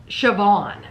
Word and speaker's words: Siobhan: Siobhan. It's spelled completely different than how you She's say Irish, I think.